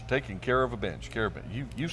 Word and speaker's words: Karabensh: Did I pronounce that right? You did. All right, Karabensh. Just like you're taking care of a bench. Taking care of a bench, Karabensh.